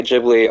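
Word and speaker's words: Ghibli: everyone wins like like the people who say jibli are correct because that's the American to say it and right and yeah and I'll definitely take a step back you know and and the other one is also correct so yeah okay cool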